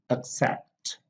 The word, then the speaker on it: accept: nouns and adjectives because verbs generally have the stress on the second syllable we have like accept accept begin begin discuss